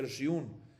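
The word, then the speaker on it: ירשיעון: Yarshiun, a pesar que está escrito, se pronuncia Yarshiun, pero como falta la Vav es 1.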